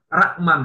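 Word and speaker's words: Ruckman: Ada catatan yang dibikin oleh Dr. Rakman ya, bacanya Rman ya.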